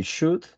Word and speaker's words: should: These two words have maybe the same pronunciation. Should and could. You don't pronounce the L, the letter L.